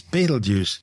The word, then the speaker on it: Betelgeuse: I've been calling it battle G it's more commonly these days referred to Simply as Beetle Juice don't say the name